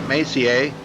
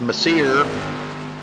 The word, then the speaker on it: Macer: macier third place I was told that's how you say that Macer I was I was thinking it was mere but it is French Canadian I guess so I guess they pronounced that different than what we would pronounce it so it's ma a